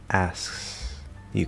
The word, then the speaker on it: asks you: The easy thing is just keep it an S, right? You're going to do S, lazy K, S, Y.